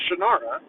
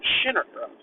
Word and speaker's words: Shannara: what you believe it the correct pronunciation of the land that he created is Shannara not Shannara it pronounces shitara originally but he later changed his pronunciation to Shannara because that's how the